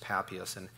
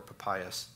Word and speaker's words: Papias: That's just Papias in a fragment, or Papias, depends on how you want to pronounce him.